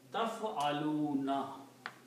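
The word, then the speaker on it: تفعلون: Ta in the beginning and wuna at the end. And we keep the three letters in the middle. Fa, ayn, and lam. Okay. And pronounce it taf'aluna.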